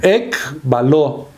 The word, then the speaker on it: ekbaló: Aquí la palabra echar fuera es una palabra en el griego que se escribe ek, E-K, B grande, A-L-O, ekbaló, o sea, expulsó, sacó muchos daimonizomais, o sea, muchos demonios, ¿verdad?